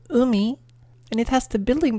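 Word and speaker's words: 海: Then we have ocean, pronounced umi, and it has the building block of water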